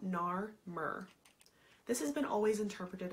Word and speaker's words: Narmer: The king on either side is labeled with the hieroglyphics of a catfish and a chisel, which phonetically spells out Nar-Mer.